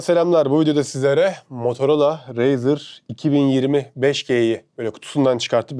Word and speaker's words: Razr: şurasında razer yazıyor olsun yok ama razer diye okunuyor şöyle bunun içinde kablosu